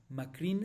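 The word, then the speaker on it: מקרן: No, Macrin se lee, pero se escribe como Macrán y Macrán es singular, lo cual significa solo un cuerno.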